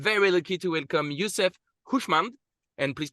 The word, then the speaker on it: Hooshmand: Today, I'm very lucky to welcome Yousef Hooshmand, and please correct me if my pronunciation is not correct, That's correct.